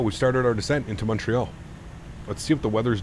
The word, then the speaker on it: Montreal: Apparently it's pronounced Montreal. Well, yeah, if you say it in French, Montreal. Yes, that would be it is. But to everybody else that doesn't speak French, Montreal.